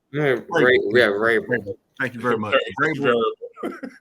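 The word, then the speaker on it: Vrabel: How you pronounce the name? What's the coach's name? Yeah, Rabel. Rabel.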